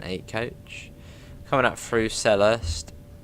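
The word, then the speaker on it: Selhurst: coach coming up through cellist or cellhurst depends if you want to say the silent h seller sell Hurst awesome Fiat through sad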